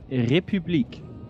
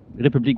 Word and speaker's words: République: République. Oof, jeez. République. Okay. République. It's like an U.